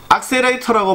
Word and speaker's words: Accerator: 그거를 상상을 하실 수 있는데, 실제 축구의 제품명은 악셀레이터라고 발음이 되고, 이 단어 자체는 영어 사전에 존재를 하지 않아요.